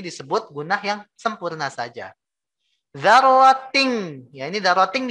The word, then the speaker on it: ذَرَّةٍ: Dzarratin. Ya, ini dzarratin dibacanya. Dzarratin. Kenapa dibacanya ting bukan tin? Ya. Singkatnya karena ini mengandung hukum ikhfa.